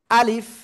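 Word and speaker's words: ألف: অক্ষরের নাম কি আলিফ কেমন উচ্চারণ হবে আলিফ মুখের খালি জায়গা থেকে অক্ষরটা উচ্চারণ হবে আর কি করতে হবে নিচের ঠোঁটের পেট উপরের দুই দাঁতের আগের সাথে লাগিয়ে হালকা বাতাস বের করতে হবে শেষে আলিফ এ অক্ষরে কোন টান হবে না কি হবে না এই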